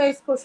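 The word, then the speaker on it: est-ce que: আর সিই সো উচ্চারণ না ভাইয়া নাকি এটা একসাথে উচ্চারণ করে। এটা একসাথে জোরে বলছি না? জোরে বলছি না এজন্য এইজন্য এসক ঠিক আছে হ্যাঁ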